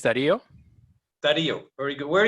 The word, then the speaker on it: Dario: How do you pronounce it? Where are you, Dario? Hello, everybody. My name is Dario.